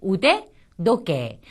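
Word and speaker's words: 腕時計: 자, 이렇게 우데라는 것과 도케라고 하는 두 단어가 붙어서 하나의 새로운 손목 시계가 됐을 때는 우데도케 하는 시계 뒤에 오는 명사에 두 개의 작은 점이 붙어서 성대를 울리는 발음으로 바뀌는 경우가 많습니다.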